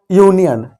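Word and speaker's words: union: यानी ध्वनि जो आए, तो यूनियन, अक्षर तो यू है पर जो ध्वनि निकलती है वो व्यंजन की निकल रही है, यू, क्योंकि या है, या एक व्यंजन है।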